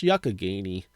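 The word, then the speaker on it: Youghiogheny: it looks like Yu-Gi-Oh gainy but it's actually pronounced Yakagany and it looks like you can do some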